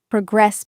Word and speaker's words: progress: In this form, the stress usually shifts to the second syllable, progress. In the first panel on the far left, we see a business chart.